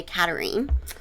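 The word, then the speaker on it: Katharine: interest and where we first meet cat queen katarine which interestingly enough is spelled just like catherine but is pronounced phonetically katarine um we're in injury down which is the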